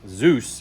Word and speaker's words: Dzus: The D is silent, apparently.